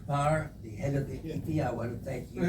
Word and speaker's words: IFFI: You pronounce it IFFI. It's the best way to pronounce IFFI, to get this wonderful honor.